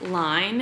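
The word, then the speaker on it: Lein: It is with Line, and it's spelled L-E-I-N.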